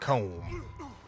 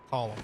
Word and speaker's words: Colm: Comb? Although it's pronounced Column.